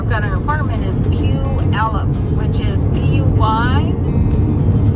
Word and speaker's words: Puyallup: be staying where I've got an apartment is Pew Alum which is which is why a-l-l-u-p and I